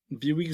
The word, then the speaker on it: Bihouix: Et donc Biwix, juste pour ceux qui nous écoutent, ça s'écrit Bihouix.